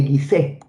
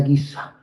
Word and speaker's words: Giza: se llama este cementerio la necrópolis de gisé Bueno en realidad se pronuncia giza la necrópolis de guiza